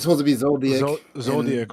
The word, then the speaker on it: Zoldyck: It's supposed to be Zoldyck. Zoldyck, right? Yeah, it's supposed to be some extra shit in the actual. Tuka, when you say Zoldyck family, like who specifically though?